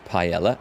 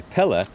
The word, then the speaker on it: Pella: gained plus one courage I keep wanting to pronounce this as paella I must be hungry anyway Pella has recently experienced a